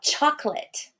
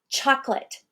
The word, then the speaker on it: chocolate: What about chocolate? Chocolate. The middle syllable is so unstressed, I completely take out the O. I don't say chocolate.